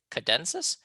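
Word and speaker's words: tchadensis: The T here is silent, cadensis.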